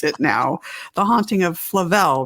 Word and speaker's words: Flavel: and i'm so glad i know how to pronounce it now the haunting of flavelle right the haunting of flavelle house an actual